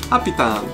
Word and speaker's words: Happy Turn: I learned recently that's how you say it in English. Happy turn.